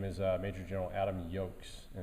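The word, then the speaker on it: Joks: uh major general adam yokes and it's spelled j-a-j-o-k-s like looks like jocks it's adam yolks he's gonna be here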